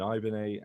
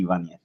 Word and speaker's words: Ibanez: No, there's no the thing on the N is missing, so it's Right, so there's Ibanez, no. but the B is pronounced like a W.